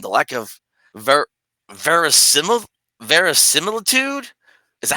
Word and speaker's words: verisimilitude: Otherwise, you may come off as desperate, and the lack of ver- verisimil- verisimilitude. Is that how you pronounce that?